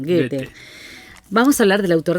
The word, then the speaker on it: Goethe: Goethe, o Goethe, como le decimos, pero se pronuncia Goethe, es alemán, Goethe.